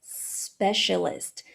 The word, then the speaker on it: specialist: Quando for pronunciar essa palavra, presta bastante atenção no começo dela, porque ela vai começar com o som do S, ao contrário do português, que ela começa com o som do I.